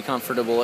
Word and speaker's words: comfortable: You can hose it out and be comfortable at the same time. It's important to pronounce the whole word. Comfortable. Comfortable. It's not comfortable. It's the wrong word you got going on there.